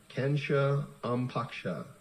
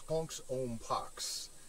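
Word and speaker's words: Konx Om Pax: with the sanskrit words kensha ampaksha the elements included the clashing of symbols tension and a certain degree of debilitation um that was a mispronunciation it's punk's own pox and uh there is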